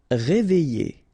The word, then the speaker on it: réveiller: Réveiller. All right. E and then double L and a vowel after, y sound. Réveiller, réveiller.